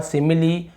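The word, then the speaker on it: simile: तो आपने यहाँ पे देखा कि हमने यहाँ पे क्या किया, इसका उच्चारण, यहाँ पे ई का उच्चारण हो रहा है, फिनाली, रेसिपी और सिमिली।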